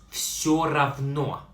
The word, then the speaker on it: все равно: Pronounce все равно.